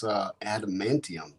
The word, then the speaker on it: adamantium: I think you're mispronouncing it. I think that's adamantium is what you're trying to say. Where? I'm just kidding. Adamantium, dude.